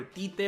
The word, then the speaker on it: Tite: Tite or whatever, but I think his pronunciation is Chichi, because once I talked with this girl who was from Portugal, I mean Portuguese, they speak the same language, and I asked, how do you pronounce Tite? And she said Chichi, so I'm gonna go that way.